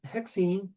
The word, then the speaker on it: hexene: There's an a here but not with alkenes. We leave that a off. Okay? Because it would be a hexaene. Put the a there. And no one pronounces the a. So they've over the years just eliminated the A.